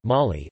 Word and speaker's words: Mali: Mali, listen, French pronunciation, Mali, officially the Republic of